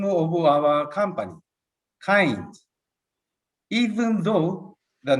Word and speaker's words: Cainz: like to explain the name of our company kind even though the name of our company is spared c-a-i-n-z it is pronounced kind derived from kindness we changed the